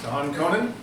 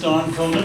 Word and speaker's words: Don Conan: up Don Conan please Don Conan yes hopefully I'm pronouncing that correctly yes it's first time it's been pronounced right my name is Don Conan I'm from Nevada County